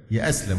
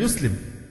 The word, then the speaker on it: يسلم: يصح أبدا يقول لك يأسلم، فلان عايز يأسلم، هي الفعل يسلم، إنما يأسلم دي كلمة من اختراع الناس في هذا العصر من